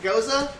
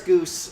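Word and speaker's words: Gose: i guess not below that goose that's how you say it right you're like oh the ghosts yeah they're like goza they're like and you're like no pretty sure it's goose that's a bit tart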